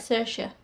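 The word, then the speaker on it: Saoirse: see it I like cersa Ronin um I pronounced her name wrong for years I hope that's right cersa it's Irish anyway there's a lot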